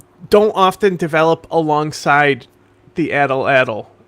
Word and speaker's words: atlatl: Well, even then, like not even just slings, like a bunch of cultures developed the atl is how it's apparently pronounced.